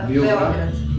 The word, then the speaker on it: Beograd: Is it a Belgrade or how is this Belgrade? pronounced by locals? Beograd. Belgrade. Beograd. Beograd. Beograd. Belgrade. Okay. इसका नाम है, यहाँ पे इसको बोला जाता है बेओग्रेड, इनकी भाषा में हम लोग बोलते हैं बेलग्रेड. In English is Belgrade.